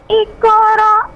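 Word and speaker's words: اقرأ: Qa dari pangkal lidah, bukan kaf, bukan iqra, tapi iqra.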